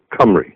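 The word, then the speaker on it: Cymry: Now, the Khumric people, Khumri, Welsh is not the correct name of the nation, the correct name is Khumry, right?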